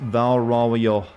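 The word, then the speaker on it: Val Royeaux: goodwill and stuff the french name i keep butchering at val roy x is pronounced valerao oh there doesn't even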